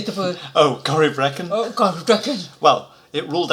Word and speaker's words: Corryvrekan: Oh, Corryvrekan.